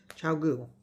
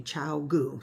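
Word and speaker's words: ChiaoGoo: Chowogu. I always say it wrong. Um, but somebody told me chow goo. That's how I'm supposed to say it.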